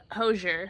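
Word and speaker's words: Hozier: now remind me how we were supposed to pronounce Hosier Hosier Hosier Hosier he says Hosier Hosier like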